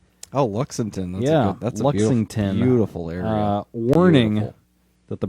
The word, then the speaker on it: Lexington: dawes i think i don't know how to pronounce that uh road through uh charleston uh to luxemton oh luxemton yeah that's lexington beautiful uh warning that the british were coming